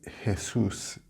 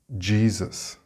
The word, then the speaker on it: Jesus: If you say Jesus in English, nobody will know what you are talking about or who you are talking about. For a start, the English pronunciation has a z sound on the first S, but it also has this j sound at the start. Of course, the correct pronunciation in English is Jesus.